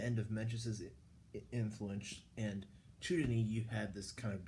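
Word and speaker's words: Zhou Dunyi: about the the philosopher by the name of chudin or um z h o u du n Yi chudin that's way it would be pronounced um following menes um there was um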